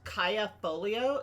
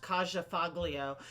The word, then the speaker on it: Kaja Foglio: I mispronounce everything personally my name is pronounced Kaya polio even though when you look at it it looks like it's pronounced kajafaglio so I do understand the